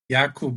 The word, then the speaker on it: Jakub: Jakub.